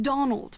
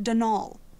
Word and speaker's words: Donal: caretaker denal Delaney not Donald mind you there's no D at the end so it's pronounced denal that's the way you're